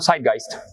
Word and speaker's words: Zeitgeist: ¿Cómo se pronuncia, Armando? Zeitgeist.